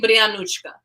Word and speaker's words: Brianka: used to be like if you can say salonic you can say brianka you can say it